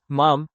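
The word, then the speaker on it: ma'am: Subsequently, one may use mom rhyming with ham.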